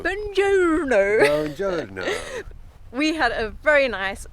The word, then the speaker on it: buongiorno: It's beautiful buongiorno We had a very peaceful night here You're saying it wrong James May says it's buongiorno buongiorno We had a very